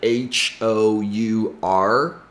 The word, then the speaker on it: hour: to pronounce this word our which sounds exactly like h o u r hour as in time and